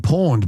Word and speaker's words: Pwned: Now, Troy is an Australian cybersecurity expert, best known for creating Have I Been Pawned, but it's spelt PWNED.